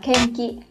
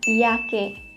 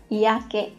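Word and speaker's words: 嫌気: Hiềm khí thì có thể là mọi người sẽ nhầm đọc là kenki. Có ai đọc nhầm như vậy không ạ? Nhưng mà cái từ này á, cái đọc của nó sẽ là iake. Nhớ nhá, iake.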